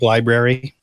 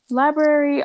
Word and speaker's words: library: Like library? Library, all of those are pronounced though. Well, some people don't. They say library.